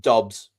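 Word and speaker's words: Doubs: Um, but like Romeo Dubs was was it 4 years 68 million up to 80. I would just like to interject. I've checked and it's pronounced Dobs.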